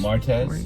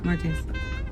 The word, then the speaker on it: martes: Martes. Martes. I keep want to say Martinez. I think I went to high school. Oh my god. What? Learning Spanish. Martz. Martz. Martes.